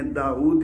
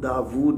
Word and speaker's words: داود: Abraham سے داؤد تک۔ یہ میں داؤد اس لیے بول رہا ہوں کہ جو انجیل کا اردو ورژن ہمیں اس وقت ملتا ہے اس میں داؤد ہی ہے، لیکن اصل جو تلفظ ہے وہ ہمارے نزدیک وہ داود ہے، واو کے اوپر الٹی پیش کے ساتھ ہے، حمزہ کے ساتھ نہیں ہے، داود تلفظ ہے۔ لیکن چونکہ میں انجیل